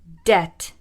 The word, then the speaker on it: debt: I'm going to teach you some of the words with silent letters. Let's begin. Silent B. Climb, climb. Comb, comb. Crumb, crumb. Debt, debt.